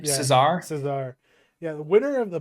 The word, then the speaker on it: Cesar: pronounce his Yeah, last name? yeah. Cesar? Cesar.